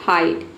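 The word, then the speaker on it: hide: एच का ह हो गया, आई का हो गया आई, और डी का हो गया ड। ई साइलेंट है क्योंकि वर्ड के अंत में आया है। ये हो गया आपका हाइट। अब समझते हैं कि और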